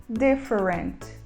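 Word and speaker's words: different: é a palavra diferente e a gente fala the forense temos muitas aeronaves diferentes no hangar e a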